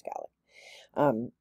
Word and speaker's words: Gaelic: Sometimes people pronounce it Gaelic, but it's Gaelic.